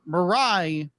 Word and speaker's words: Mirai: he just like you have this upbeat chipper marai marai right yes marai marai thank you because